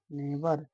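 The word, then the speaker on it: never: नौवां नियम, यदि किसी वर्ड में दो कॉन्सोनेंट के बीच ई आर आए तो ई आर का उच्चारण आ हो जाता है। जैसे एन ए भी ई आर नेवर, एफ ओ आर ई भी ई आर फॉरएवर।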